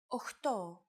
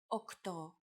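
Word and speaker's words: οκτώ: Sometimes, though, especially in casual conversation, Greeks also use efta instead of epta, ochto instead of okto, and ennia instead of enea.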